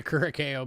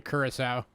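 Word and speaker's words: Curaçao: If anybody's ever wondered, that's how you actually pronounce the name of this country. I know a lot of times we say Curacao, but it's actually Curacao.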